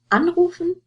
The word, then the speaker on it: anrufen: For the two examples here, you have anrufen and einschlafen. Anrufen to call, einschlafen to fall asleep. And you see the stress is on the prefix. You wouldn't say anrufen or einschlafen.